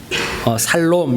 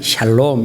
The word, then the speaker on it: 샬롬: 그냥 혀가 짧으시면 살롬 이렇게 해도 되고, 발음이 제대로 되시면 샬롬 이렇게 하시면 됩니다.